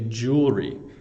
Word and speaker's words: jewelry: in Canada we say jewelry um we don't pronounce every syllable so I go to the jewelry store Jew jewelry store we hardly even say